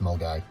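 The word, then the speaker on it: Milngavie: Anyway, we're going to head off in about 45 minutes to Mulgai, which is spelled Milan Gabi, but pronounced Mulgai.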